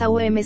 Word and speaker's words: AUM: 43 AUM se pronuncia abriendo bien la boca con la vocal A, redondeándola con la U y cerrándola con la M.